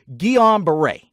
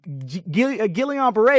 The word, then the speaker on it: Guillain-Barré: Easily stated, it's Guillain, however you want to pronounce it, whether you're Europe or United States, don't matter. Guillain-Barré.